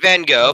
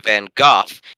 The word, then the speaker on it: Van Gogh: mode the surname Vincent van Gogh pronounced directly in Dutch sounds something like Bangkok to the ears of English speakers or British English speakers you should say I'm Van Gogh in American English say